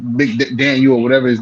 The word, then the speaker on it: McDaniel: not boost Mike U MC Daniel or whatever his name is up too high what he said he said McDaniel he say his name Mike McDaniel ain't it yeah you said it right no CJ heard something